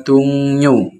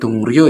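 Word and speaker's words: 동료: Yang pertama di sini ya ada dungyo ya. Itu artinya rekan kerja ya. Bacanya bukan dungryo ya, karena yang bertemu real itu dibacain. Bacanya dungyo rekan kerja.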